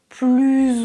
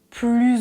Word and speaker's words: plus: Plus ou moins. Plus ou moins. Ça signifie moyen. Pas vraiment. Ici, on fait la liaison. Je prononce plus.